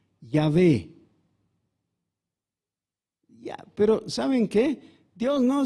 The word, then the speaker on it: Yahvé: utiliza la palabra jehová ahora se sabe que jehová no es la pronunciación correcta que seguramente sería algo diferente porque jehová solamente suena así en español porque hemos transformado la iv en j entonces tendría que ser algo más para parecido a yahvé pero saben que dios